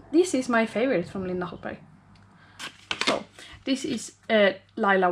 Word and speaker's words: Linda Hallberg: This is Linda Hallberg. Eller, it's called Linda Hallberg. It's how you pronounce it in Swedish.